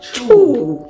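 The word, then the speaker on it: stew: In Gambia, it's pronounced chew.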